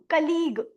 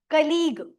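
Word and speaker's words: colleague: ए और यू कलीग। सी ओ ओ की sound आ रही है।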